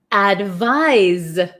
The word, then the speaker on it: advise: then here we have advise advise so it's so tricky right advice has an S sound but it's spelled with a c advise has a z sound but spelled with an s h why is English